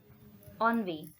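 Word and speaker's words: ennui: ऑनवे will pronounce the word in different way the spelling is beginning from E but they will pronounce this word as ऑनवी ऑनवे का मतलब होता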